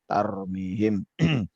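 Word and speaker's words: ترميهم: yang tebal ini ya jadi bacanya bukan ntar seperti juta ya tarmihim tapi dia ditutup dari lebih tertutup dan lebih tebal Kaur di himtarou fihim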